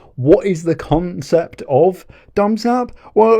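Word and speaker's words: Dum's app: Now, please do not mispronunciate this. It's not Dumsap. He's not a Dumsap. He's a smart guy. Dumsap. Right? Dumsap. Dumsap. It's dum {apostrophe} s app. It's his app.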